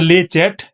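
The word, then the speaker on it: Le Chat: So it's a lay chat. Uh this is normally how they pronounce you can pronounce uh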